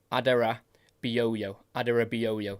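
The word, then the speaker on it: Adarabioyo: it last night and I think I've got it Adera booo adoo that's how you say it the uh former for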